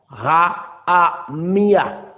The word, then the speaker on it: Rahamia: Rahamia, prononciation H-A-A-M-I-A-H. D'où la prononciation est Rahamia. Rahamia.